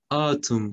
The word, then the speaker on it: autumn: Se escribe autumn, pero se pronuncia esta autumn como una como dándole a una o autumn, a u autumn, otoño.